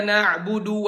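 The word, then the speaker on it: نعبد: bermasalah iya kena agu2 iyyaka nasta'in bacanya iyyaka nabudu wa iyyaka nasta'in perjelas number disitu contoh diuruk Wow inallahha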